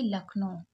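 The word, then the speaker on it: Lucknow: यू लक यहां पर you silent है सी के को का पड़ा और एन ओ ओ डब्लू को ओ पड़े यानी कि लखनऊ उत्तर प्रदेश इज द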